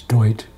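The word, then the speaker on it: Doyte: It's Dwight. Dwight, okay. D-O-Y-T-E. The T is silent on the back.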